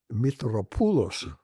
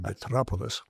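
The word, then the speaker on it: Mitropoulos: great conductor Dimmitri Metropolis, Metropulos, the correct pronunciation, but he said no one can say that. They can hardly say Metropolis, so I say Metropolis.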